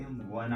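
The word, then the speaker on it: one: वहा पर क्या लगेगा जैसे वन है वन इसके उच्चारण में देखते वन आ रहा है य पर वहा है जो कि क्या है कसनेट है व्यंजन है तो य पर आ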